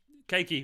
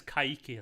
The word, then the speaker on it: Kayky: Keiki will always be Keiki, because it looks like it's spelled like Keiki. I know it's Kayky or something like that, isn't it?